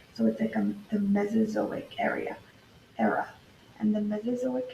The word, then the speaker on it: Mesozoic: we have a new word this word is pronounced mesozoic yes I know say so Matt so so